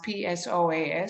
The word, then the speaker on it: psoas: And she noticed that my psoas muscle, that's spelled PSOAS, psoas, was very tight.